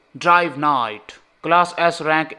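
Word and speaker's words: Drive Knight: Class S rank 9 ड्राइव कनाइट, भाई के is silent, I know bro, ड्राइव नाइट।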